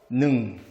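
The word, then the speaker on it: หนึ่ง: 이렇게 씁니다 태국 숫자로 1은 이제 짧게 일성으로 발음해야 능 역시 태극 숫자는 요렇게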